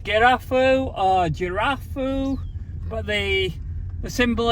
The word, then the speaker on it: Girafou: I've actually looked up the pronunciation. It's pronounced Girafou.